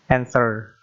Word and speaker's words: answer: Kita bisa menghilangkan we or y. In English, we mentioned or we say answer.